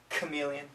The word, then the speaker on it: chameleon: have an sh sound chameleon scholar chemistry psychology psychic these Greek originating words usually have a k sound when spoken in English okay does